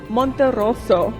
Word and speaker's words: Monterroso: My name is and today we're here at the Winter Conference and joining me Steve Monterosso. Yes, you pronounced it well.